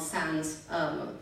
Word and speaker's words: Sans: There's one company called Sans Wine, rhymes with cans, but it's also without, as in without any additives, without any preservatives, and also without any pretension.